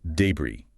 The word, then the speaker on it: debris: Debris. D-E-B-R-I-S. Right, it looks like debris, maybe. Stress on the first syllable.